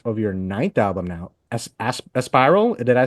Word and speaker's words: Aspiral: your ninth album now, Aspiral. Did I say that right too? Um, Yeah, don't pronounce it as ass, but aspirant.